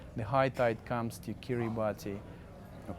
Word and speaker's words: Kiribati: It's a little things what you see, for example, when the high tide comes to Kiribati, or Kiribati, how they pronounced the right name of this country.